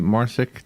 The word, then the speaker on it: Marcic: by our guest MARSOC am i pronouncing your last name correctly yes you are perfect it's a true crime